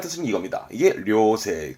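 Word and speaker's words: 良性: 발음은 료세, 료세, 양, 좋은, 성질, 그러니까 천성이 좋다는 뜻입니다.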